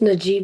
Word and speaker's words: Najib: How how do you pronounce your name Najib? It's pronounced Najib like you just said it.